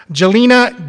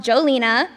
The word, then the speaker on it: Jelena: I've been called Jolena, Gina, the Spanish version, Helena, and my personal favorite, John.